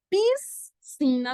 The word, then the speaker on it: piscina: ir tomar esse banho mas piscina não existe porque o s é mudo assim como não existe